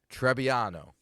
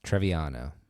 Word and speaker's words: Trebbiano: No, there's definitely a B in there, not a V.